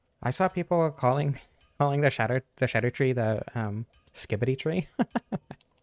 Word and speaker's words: Scadu: I saw people calling the shadow tree the skibbity tree. I pronounced it Scadu tree through my entire playthrough, but apparently it's Old English and is supposed to be pronounced shadow or shadow.